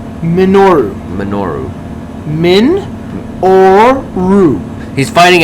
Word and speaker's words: Minoru: you haven't you have manoro Suzuki takes on mono Suzuki I can't say his name bro you say it Manu okay say it manoro minoru minoru Min Oru he's